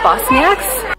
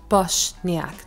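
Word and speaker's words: Bošnjak: It's also the home of the Bosnian diaspora, who are known as Bosniaks. Actually, it's pronounced Bošniak, not Bosniak. Apparently, I've been saying that wrong for years.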